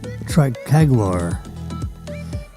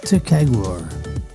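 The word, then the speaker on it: ticagrelor: Let's try the Tricaglor. That is it's Ticaglor. Ticaglor. This is the way you pronounce that.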